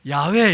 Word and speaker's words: 여호와: 여호와인데 야훼 이렇게 발음하는 분도 있고 야훼 이렇게 발음하는 분도 있어요. 근데 일반적으로는 야훼 이렇게 발음합니다. 근데 우리는 어떻게 발음하냐면 야훼라고 하지 않고 여호와 이렇게 발음하죠.